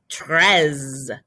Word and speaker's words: treize: 3 was trois, and when it becomes 13, it becomes treize. Your O is changing to an E. So trois, treize.